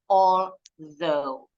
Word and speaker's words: although: Jadi ini bacanya although. Although. Alright, all together. Repeat after me. Although. Although. That's it.